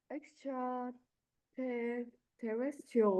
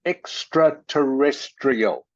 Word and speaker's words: extraterrestrial: proved yet and the first word of that sentence is pronounced extraterrestrial extraterrestrial um the word has Latin